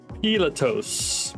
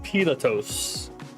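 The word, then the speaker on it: Πιλᾶτος: And this one you pronounce Pilatos. Pilatos.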